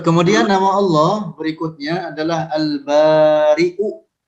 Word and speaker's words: البارئ: Lanjut, kemudian nama Allah berikutnya adalah Al-Bari'u. Al-Bari' dengan hamzah. Ingat-ingat dibacanya demikian, dengan hamzah, tidak boleh dibaca dengan Al-Bari. Tetapi Al-Bari. Maknanya adalah bahwa dia Allah yang menciptakan para makhluk dengan tanpa ada contoh sebelumnya.